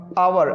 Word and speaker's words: hour: जैसे अब यहाँ पर H साइलेंट है, H को हटा दिया जाए तो ये क्या बचेगा, OUR।